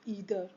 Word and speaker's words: either: All uses of ईदर, आप इसको आइदर भी प्रोनाउंस कर सकते हैं। वो ब्रिटिश और अमेरिकन इंग्लिश में फ़र्क होता है। कहीं पे इसको ईदर प्रोनाउंस करते हैं और कहीं पे आइदर, तो आप दोनों ही बोल सकते हैं। ग्रामेटिकली दोनों ही करेक्ट है।